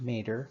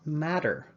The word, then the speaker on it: mater: t in mater and it should be pronounced mater and not matter it's a common mistake mater is latin for